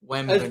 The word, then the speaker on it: Wembanyama: But they'll be tanking for Wembanyama. Who? Wembanyama. Wembanyama. That sounds like a Lion King song. It's not Benny. That's all I know. Wembanyama. Wembanyama. You can't say wom. It's Wembanyama. W-E-M.